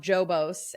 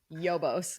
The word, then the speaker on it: Yos: bar themed completely unexpected it's called Yos so not jobos and not hobos it's Yos based yeah you you could confuse how it's said but it's Yos and tons of good